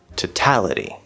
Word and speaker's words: totality: flapped d sound total but the next word totality so that first syllable is now not stressed because we're shifting the stress to the second syllable making it a weak t that o in to is most likely going to reduce to a schwa to and then we have the tal so now instead of